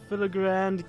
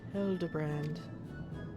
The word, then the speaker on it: Hildibrand: Since parting ways, I've searched every alley and dive bar and Everkeep for signs of this, the filigrand character. It's pronounced Hildibrand.